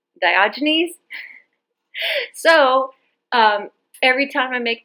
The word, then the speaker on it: Diogenes: I was saying Diogenes, and it was actually Diogenes.